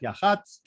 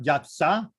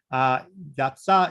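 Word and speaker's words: יַהְצָה: battle at Yahatz, or Yatzah, sorry. It's one of those things where it's much easier to look at the Hebrew than it is at the translation. Yatzah is the proper pronunciation in Hebrew.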